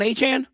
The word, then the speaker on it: Achane: So, like Achane, like Devon Achane? That's what he said. He said that his name is pronounced like Achane.